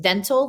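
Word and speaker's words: dentil: it's like but it's it is pronounced dental like your teeth because that's what they look like they look like teeth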